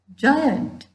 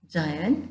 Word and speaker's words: giant: soft G right example giant giant you write with letter G but we pronounce it as J okay that is soft